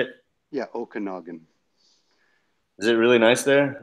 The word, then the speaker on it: Okanagan: I mean that how you say it yeah Okanagan is it really nice there somebody's been asking